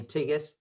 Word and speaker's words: Tsighis: i ran because most of the people couldn't pronounce my name my last name tigus i was uh i made sure and i